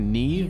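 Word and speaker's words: Niamh: you may call that's how you pronounce that Neve who shall be witness to a fable pay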